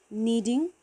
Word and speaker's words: kneading: rings okay funnel is word starts with k k silent k n e a d i n g needing avid need k n e a d need so friends now you